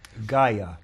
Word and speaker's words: Gaia: Gaia. Gaia. How do you spell that?